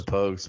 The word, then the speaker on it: Pogues: My number 4 is Fairy Tales of New York by Pokes. Yeah, Pokes, did I say it right? Pokes. the Pogues by Pogues.